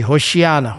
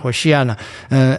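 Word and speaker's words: הושיעה נא: So the people who are putting these branches on the road and saying Hosanna and Hoshiana, basically. That's how you pronounce it. Say Hoshiana, Hoshiana.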